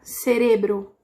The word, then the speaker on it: cerebro: Então, às vezes a palavra é cérebro, com o sé mais forte, e ele vai ficar cerebro, com o re mais forte, tá bom?